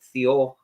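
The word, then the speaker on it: Thiaw: Is it Theo? Is that how you would pronounce his name? It's the noise. Very close. It's the noise the plane makes when it lands.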